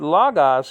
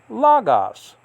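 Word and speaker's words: λόγος: want to call it, that's to be higher on the first syllable, because that's where the acute marker is.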